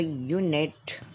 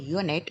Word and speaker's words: unit: The U in unit is a consonant sound because it sounds like that. Unit. No doubt, writing with the vowel sound, but the pronunciation and the sound, it's a consonant.